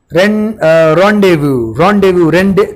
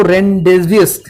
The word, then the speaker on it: rendezvous: रॉन्डेव्यू, कई लोग इसको रेंडेवियस भी बोलते हैं. फर्स्ट टाइम जब मैंने ये वर्ड देखा था तो तब मैंने भी सेम लाइक यू पीपल ऐसे ही प्रोनाउंस किया सर, रेंडेवियस. तो इसको बोलते हैं रॉन्डेव्यू.